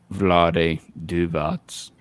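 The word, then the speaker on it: Vlade Divac: say his name got it that is correct vlade duvats and in that trade yeah the hornets traded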